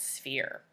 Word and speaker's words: sphere: pencils to spell out sphere. Sphere is spelled S-P-H-E-R-E. You might be thinking I'm wrong because it sounds like an F, but I am correct. PH makes the F sound, just like F does.